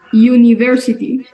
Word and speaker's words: University: le sigue una vocal Cómo pronunciamos esta palabra University muy bien no decimos universalía que como universidad no ahí es prácticamente como si tuviésemos nosotros podríamos decir como una ye no tan yo no